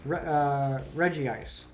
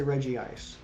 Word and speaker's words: Regice: Regice. I do throw the extra I in there to make it match the rest of the Reggies. I do say Regice.